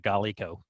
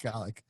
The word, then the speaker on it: Golic: Also, fun fact: Mike Golick was going to do the show until Brinson called him Mike Golico. Mike Golick.